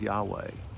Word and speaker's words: Yahweh: That's the four-letter Hebrew word that we pronounce as Yahweh.